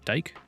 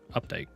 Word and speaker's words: Updike: Dike? Updike? Updike? It's like with a D, so it'd be Dike. Updike.